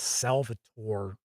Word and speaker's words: Salvatore: And then uh supposedly Bob Salvador is or Salvatori I think it's Salvatore if I remember correctly the pronunciation is going to do some Drist stuff.